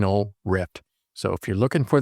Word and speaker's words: RYFT: butchered the words and you're going to hear it pronounced it as rifted. It seems like no matter which voice I use, it says rifted. And that's because the spelling is R Yft. But it really is just plain old rift.